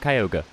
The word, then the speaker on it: Kyogre: But yeah, I pronounce it Kyogre, the mascot legendary Pokemon Sapphire. Some people, I think, pronounced it Kyogre, or something like that. But I think the Japanese name is Kyogre, so Kyogre.